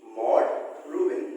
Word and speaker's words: Maude Rubin: pronouncing the name of the poet, so you have to pronounce after me. Maude Rubin. Okay, Maude Rubin, not Maude, Maude Rubin.